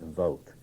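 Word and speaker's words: Vogt: If you have no background in that, let me recommend that you get this reader uh by Lesa and Vog. I think that's pronounced vote just called a a reader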